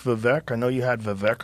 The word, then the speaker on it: Vivek: opposing do you like vivec I know you had vivec on your podcast that's I mean I heard in this rap He says it rhymes with cake okay um well as